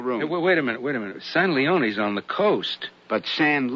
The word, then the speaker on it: San Leon: Rancho San Leon. It's pronounced San Leone. Ain't written that way.